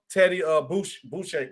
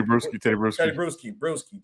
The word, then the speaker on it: Bruschi: But also another high praise for Jaden Daniels, Teddy Boucher. I always say it wrong. Teddy Bruschi. Jesus, I always have to get a beer.